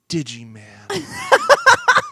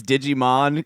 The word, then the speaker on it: Digimon: You're my Digiman. Smash cut to Jeff's bedroom. I know that that's not the right way to say it. It's Digimon is one thing. I know that.